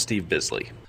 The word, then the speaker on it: Steve Bisley: Quick note from the corrections department, it's pronounced Steve Bisley.